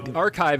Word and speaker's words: arXiv: So I feel like I have to state for our listening only audience, which archive is spelled ARXIV.